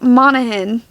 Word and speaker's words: Monaghan: Yeah, Annabelle Monaghan is, I think it's how you pronounce her name. Somebody told me the G is silent. Annabelle Monaghan.